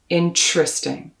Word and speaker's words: interesting: pronunciation nitty-gritty says that when you get to that t-e-r spelling in the middle there are a few choices in many accents of english you'll hear interesting but in most parts of the states and canada you will hear ch interesting almost as if it's spelled chr interesting so again if you